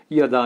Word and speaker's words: যদা: আমরা বাঙালিরা অনেক সময় বলি যদা যদা হি ধর্ম, কিরকম একটা সেই গদার মতো শোনায়। ইয়াদা ইয়াদা হি, যারা একটু সংস্কৃত শিখেছেন তারা আমাদের, যারা সংস্কৃত জানেন তারা আমাদেরকে শেখান।